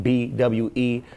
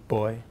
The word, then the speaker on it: Bwe: It's spelled B-W-E. It has a lot of different iterations. It could be boy, or bwe.